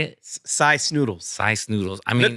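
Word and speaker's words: Sy Snootles: Cy Snoodles.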